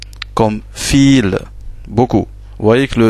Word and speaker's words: viele: Comme fil, beaucoup. Vous voyez que le V ici, c'est un V, mais il se prononce F. Donc fil, ce qui veut dire beaucoup.